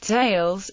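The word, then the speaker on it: tallis: in yiddish it is tails with the stress on the first syllable the plural of talat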